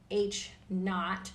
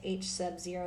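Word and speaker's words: H₀: which will be denoted H naught that's how you say it H Sub Zero is H naught the null hypothesis states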